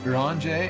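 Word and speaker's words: Urianger: Uranger? Yeah, Uranger, that's right. Uranger and Kale.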